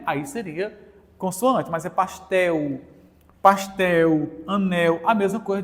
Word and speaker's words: pastel: dos estados brasileiros gente o l em fim de palavra também é semivogal pastel estamos falando de fonética Então nesse caso esse L aqui é uma semivogal ninguém pronuncia mais pastel se fosse pastelo aí seria consoante mas